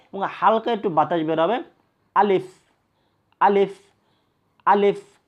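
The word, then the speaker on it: ألف: আলিফ উচ্চারণ হয় আলিফ, যে সামনের ওপরের 2 দাঁত, সামনের ওপরের 2 দাঁত নিচের ঠোঁটের পেটের সঙ্গে লাগবে।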